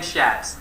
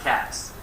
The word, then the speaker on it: Schatz: It's Ken Schatz, not Katz, for the second owner. Can you spell that? S is S-H-A-T-Z.